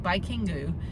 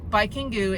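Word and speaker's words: バイキング: It's called Baikingu, and Baikingu is actually the katakana pronunciation of Viking.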